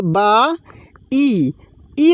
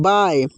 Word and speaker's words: bye: तो ये बाई है, देखिए बा ई लगा है, लेकिन इसमें दोस्तों ये जो BYE है, बाई नहीं बाय, क्या है वाई।